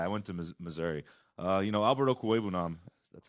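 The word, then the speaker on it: Okwuegbunam: Alberto Cuebunan, that's how you say it.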